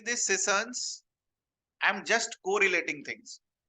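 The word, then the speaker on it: cistern: सिसर्न. टी is silent. सिसर्न.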